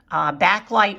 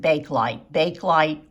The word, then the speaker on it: Bakelite: Bakelite also you can find, and some people pronounce it Bakelite or Bakelite, depending on where you're from, I believe.